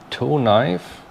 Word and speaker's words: Tonife: we'll be looking at the toe knife well i i guess that's how you pronounce it t-o-n-i-f-e uh squirrel i know